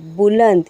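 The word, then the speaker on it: بلند: Belam bull, नून दाल नद, बुलंद। यहाँ पे भी नून साइलेंट है।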